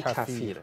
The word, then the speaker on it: کفیر: تلفظ هم درستش همون کفیره.